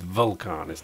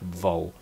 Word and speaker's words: Vulcanus: I'm told I'm saying it wrong all the time as well. It's Vulcanus, not Vulcanus.